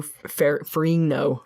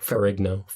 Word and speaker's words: Ferrigno: So, this is the first time the Hulk was not voiced by Lou Ferrigno. Ferrigno.